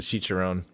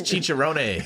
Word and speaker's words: chicharrones: emily too she's uh she's a chicharon hopefully i'm saying that right she's gonna kill me she's like that ain't even that's how you say it it's chicharrones it's like i was like